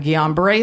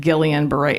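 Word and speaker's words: Guillain-Barré: shepherd center um that i couldn't pronounce it for a long time i kept calling it gillian beret he goes there you're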